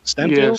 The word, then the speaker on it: Steinfeld: Steinfeld?